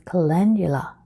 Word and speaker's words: calendula: and your plant is the calendula the proper pronunciation is calendula clentia it is symbolic of warmth improved communication